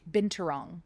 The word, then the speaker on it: Binturong: And How do you pronounce it again? Binturong Binturong?